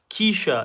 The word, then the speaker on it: Keisha: The mental health first aiders app, it's Keisha. That's how you pronounce it.